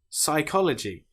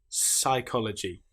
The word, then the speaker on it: psychology: before the letter s psychology saaam here we don't pronounce the P at all we just say pronounce the S sound psychology psychiatry the P is